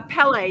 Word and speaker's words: Pelle: So, you have someone that you collaborate with, uh, Pelle. Did I say it correctly? Yes. Like the volcano, like Pelle, the angry god. Or the or the soccer player.